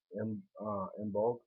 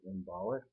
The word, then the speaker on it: Imbolc: The next holiday I'd like to talk about is pronounced Imbolc. Some people pronounce it Imbolic.